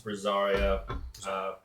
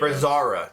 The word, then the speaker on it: Brazara: Okay, so we finished talking to Brazaria at the... Brazara. Just Brazara.